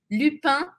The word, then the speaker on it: Lupin: gente tem limpa e termina com essas com anasalado lipan Hassan Hassan Joke Cler